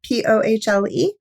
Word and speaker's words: Pohle: Up at Work, by Allison Pohl, I believe is how you say it, Pohle.